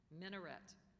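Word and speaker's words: minaret: by the muin minet are there any alternate pronunciations no there are not could you say the word again minet minet m i n a r e t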